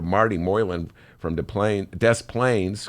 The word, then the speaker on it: Des Plaines: Moreland from the plane Des Plaines scuse me I gave it a French pronunciation is imploring Illinoisans to